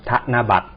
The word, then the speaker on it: ธนบัตร: ว่า ธนบัตร นะ ครับ ใช้ ต่อ เต่า ต่อ เรือ สะกด นะ แต่ ออก เสียง เป็น เด็ก นะ ครับ ธนบัตร ค่ะ ต่อ มา นะ